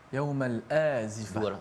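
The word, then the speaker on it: يوم الآزفة: Ini untuk mengingatkan kepada kita, wa anzirhum, pada ayat yang ke-18, berilah peringatan tentang yaumal, macam mana bacanya Ustaz, azifah ke azifah? Yaumal azifah.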